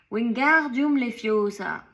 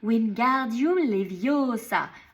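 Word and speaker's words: Wingardium Leviosa: Wingardium le fiosa ! En agitant ses longs bras comme un moulin avant. Tu ne prononces pas bien lança Hermion. Il faut dire winardum leviosa en accentuant bien le gare.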